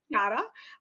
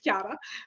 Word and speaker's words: Chiara: So my name's Chiara. But obviously with the Australian pronunciation, I get Chiara, which is fine. I just don't like to introduce myself like that because a little part of my soul just crushes because it's Chiara.